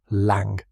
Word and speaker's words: Lang: Pronunciation Lang rhymes with song.